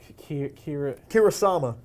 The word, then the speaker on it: Kurosawa: Kurosawa.